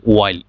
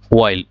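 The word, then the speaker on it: while: এর স্বরে উচ্চারণটা আসলে হোয়াইল ডব্লিউ আই এল ই হোয়াইল অর্থাৎ এইচ টা আমার এখানে বাদ চলে গেছে তাহলে হোয়াইল ইউ মেড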